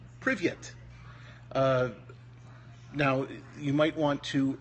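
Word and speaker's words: привет: So this isn't prive, it's privye, and then the letter T is the letter T, tau, So this says privyet, and it means hello.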